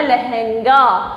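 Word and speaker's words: लहँगा: अगर अब यहाँ से मैंने चंद्र बिंदु हटा दिया तो क्या हो गया, लहंगा, लेकिन है के ऊपर चंद्र बिंदु लगाया तो इसका उच्चारण कैसे होगा, लहंगा। क्या उच्चारण हुआ, लहंगा।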